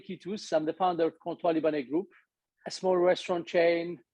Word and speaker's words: Comptoir Libanais: of the restaurant is Comptoir Libanais. It's a very difficult word to pronounce. It's French name. Yeah, it's Comptoir Libanais.